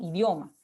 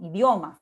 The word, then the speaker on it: idioma: particular, ¿no?, idioma, ¿no?, idioma. La I casi no se pronuncia, ¿no?, idioma. O sea, la pronunciación en todo caso enfatiza en la O, si ustedes se dan cuenta, ¿no?